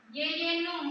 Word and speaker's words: jejunum: Jejunum. Yeyenum bacanya.